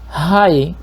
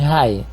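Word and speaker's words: Hai: Si los reyes cananeos recobraban el aliento con una derrota de Israel en Jai, y ahí se escribe H mayúscula, A y latina, podrían unirse en un ataque coordinado.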